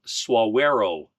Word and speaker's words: Saguaro: trip uh was to suero National Park not SE yeah I actually went